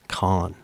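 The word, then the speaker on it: Caen: That film festival can can you guess how CeN is pronounced? Kines con because that's how you actually when you say con I think when you say con and on frances I think you're pronouncing it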